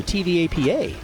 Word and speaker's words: TVAPA: The Treasure Valley Antique Power Association, so TVAPA.